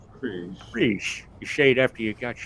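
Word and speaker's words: Krige: Like, Okay. like cream frige. Kriege.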